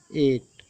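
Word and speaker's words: eight: देखिए, जैसे अक्सर आप ये सब पढ़ते होंगे, एट, ई आई जी एच टी, एट, लास्ट में जी एच टी है तो ये जी एच टी है तो ये जी एच को साइलेंट है, इसको नहीं पढ़ा गया, डायरेक्ट एट पढ़ा गया है।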